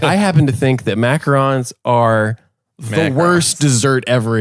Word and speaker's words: macaron: cream later number one nobody can pronounce the name in America we say macaroons oh yeah say it